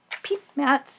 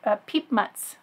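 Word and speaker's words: Piepmatz: one is peep mats these are peep muts I thought how to pronounce it in one of the forums on Board Game Geek and not the way that a native English speaker like myself would think to pronounce it but peep muts um little song birds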